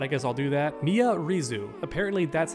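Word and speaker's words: Miary Zo: Mia Rizu. Apparently that's how you pronounce it.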